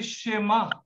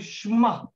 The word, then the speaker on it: Shema: You don't say Shema. You don't say Shema. You say Shema.